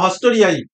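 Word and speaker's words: haustoria: আচ্ছা হস্টোরিয়া কি? হস্টোরিয়া হচ্ছে চোষক মূল বলা হয়, মানে উদ্ভিদের হিস্টোরিয়া না হস্টোরিয়াই এরকমই উচ্চারণ।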